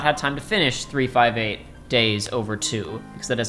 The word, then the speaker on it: 358/2 Days: But as it turns out, Joey has not had time to finish 358 Days Over 2, because that is how you're supposed to pronounce it. 3-5. Wait, not 358. Well, you can say 358.